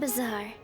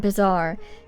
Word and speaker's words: Bazaar: what is the grand bizar she called it great bizaar earlier and I thought I'd been saying it wrong the whole time it is the Grand Bazaar isn't it my goodness well let's